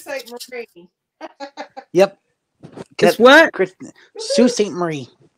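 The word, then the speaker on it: Sault Ste. Marie: St Mar yep what Sue St Marie it's what Sue St Marie put that back up there I didn't know what it was ain't nobody so the L and the t is silent yeah then what you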